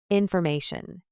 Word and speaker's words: information: Information. Say it with me. Information with stress on the m syllable.